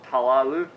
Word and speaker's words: teulu: how-to video of the welsh telev or talalu as some people pronounce it and of which if